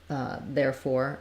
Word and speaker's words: therefore: the word for um therefore um it has first syllable stress so it has that there has the air diphthong um therefore but we have some secondary stress on four so we do letters